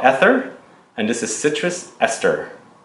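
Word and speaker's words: Aether: So the first one that is the honorable mention is a new fragrance line called ESTER, and this is Citrus Ester.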